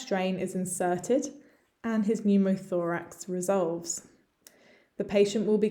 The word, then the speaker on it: pneumothorax: that of pneumothorax pneumothorax again lots of letters it's you can ignore the p and the e and just think pneumothorax okay so let's have